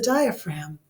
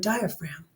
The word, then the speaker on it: diaphragm: Diaphragm, so you can remember where that silent G is in the word diaphragm.